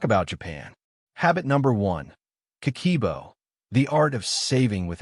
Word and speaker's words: Kakeibo: Habit number one, Kakeibo, the art of saving with intention. The first habit is called Kakeibo, pronounced Kakeh-bo.